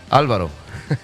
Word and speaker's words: Alvaro: Coming all the way from the south side, Alvaro, right? Alvaro. Alvaro, see. There's always things about that. You know, you may mispronounce a Spanish name.